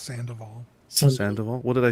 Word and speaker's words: Sandoval: I know you're Canadian, but it's pronounced Sandoval.